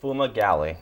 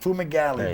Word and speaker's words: Fumagalli: Not only do we have, if you remember Fumagalli, how do you pronounce it? Fumagalli. Fumagalli.